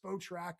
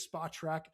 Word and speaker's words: Spotrac: I always used to think it was Spotrack or Spot Rack, but I believe it is Spot Track.